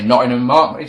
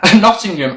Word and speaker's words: Nottingham: area Nottingham don't say Nottingham sound like a child Nottingham make sure you pronounce the G Nottingham on Sunday show starts